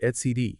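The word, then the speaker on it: etcd: It's pronounced ETC.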